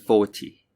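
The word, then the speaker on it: forty: could you hear it for numbers in the teens the second syllable the teen is stressed for multiples of 10 the first syllable is stressed so it's 14 and 40.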